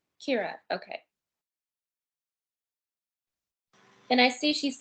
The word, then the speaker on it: Kyra: dean is her name pronounced kira or kyra it's kira kira okay and i see